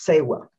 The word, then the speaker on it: Tsewa: ancient time and the concept i'm talking about today is pronounced sewell and sewam is a